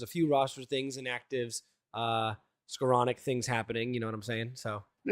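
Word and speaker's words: Skowronek: Before we do that, there's a few roster things, inactives, Skoranek things happening. You know what I'm saying? So yeah, look at you, like a regular pronunciation superstar. Ben Skoranek.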